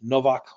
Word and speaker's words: Nowak: it's just Novak it's pronounced Novak like with a V but that's where you